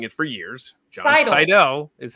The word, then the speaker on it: Seidel: But it is Seidel.